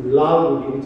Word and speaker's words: Lalgudi: I was born in a village called Alamudi, which is close to Lalgudi, which rhymes with Malgudi.